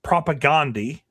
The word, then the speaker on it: Propagandhi: singer, originally was in a punk band called Propagandhi. And yes, I pronounced that right.